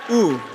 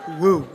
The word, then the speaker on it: Woo: And she pronounced my last name right. Oo, not Woo.